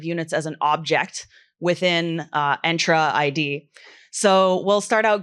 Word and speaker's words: Entra: I've been doing it wrong, so it's Entra, not Entra, if anyone's curious.